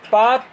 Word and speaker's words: Palk: Spelling क्या? पाक की, PALK।